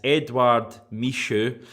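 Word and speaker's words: Edouard Michut: Edouard Michaud, which I think is how you pronounce it, the emphasis there on the Edouard bit.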